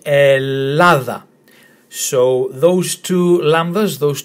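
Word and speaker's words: Ελλάδα: You pronounce them as if though it's one of them. So let's start with the letter E as in get. Then we have letter L as in lip. Another L as in lip. A as in tap. Th as in then. And A as in tap again. So we say Ellada.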